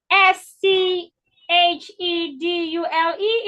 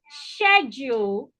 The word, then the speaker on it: schedule: c h is what s c h e d u l e is pronounced schedule it can also be pronounced schedu it can be pronounced schedule and schedule so that means that that word has four pronunciations it has four pronunciations